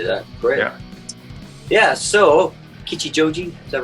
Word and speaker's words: Kichijoji: look forward to that great yeah yeah so kichijoji is that right yeah yeah good pronunciation i've been practicing all day so is